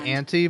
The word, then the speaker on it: Auntie: Also, you can say auntie, but I feel like when you spell like that, you have to pronounce it auntie.